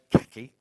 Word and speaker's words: khaki: And then we've also got khaki at 85, or as the Americans say, khaki.